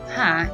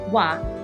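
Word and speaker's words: は: vah to other particles even though it's spelled ha it is pronounced wa if you're using this particle remember that so again wah is used to highlight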